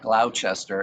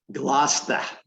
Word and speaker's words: Gloucester: corrected me because I forgot it's not Gloucester and it's not Leicester. John, how do you pronounce it? Gloucester. Gloucester, and what's the other one? Leicester.